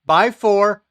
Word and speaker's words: x4: PCI Express expansion cards and adapters include by 1, by 2, by 4, by 8, by 16, and by 32, which specifies the number of lanes used for data. The X is pronounced by.